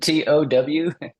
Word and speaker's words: Tow: on Buchanan lake and how do you pronounce that Christ you know he said I've never heard of that is it t-o-w it's t-o-w and if you've heard of it you're from Texas well it's not very far